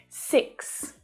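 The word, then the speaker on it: six: 6. Now the tricky part here is that double consonant sound at the end of the word.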